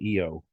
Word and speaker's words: Io: Okay, we need to have something else that rhymes with I there, with It's Bailey. actually they're saying EO.